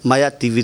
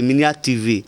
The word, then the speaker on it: Minia TV: Diko, notre grand frère, Maya TV. C'est ça, non? J'ai bien prononcé? Minia TV, ok. Parce que souvent, je prononce un peu mal. Donc, c'est Minia TV.